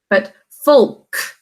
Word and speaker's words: folk: But folk. So O says its name here because it's followed by those 2 consonants, but this one is silent.